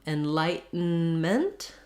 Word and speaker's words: enlightenment: you'll have enlighten me you may hear enlightenment with a little tea you can put a little tea on there you can also stop that tea enlightenment which just means my n is going to be very short both both will be short ends there because they're the